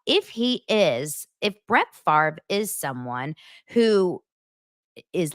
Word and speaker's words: Favre: far money okay Brett Favre still o I'm saying it right right it's Favre even though it's f a v r e Brett Favre still owes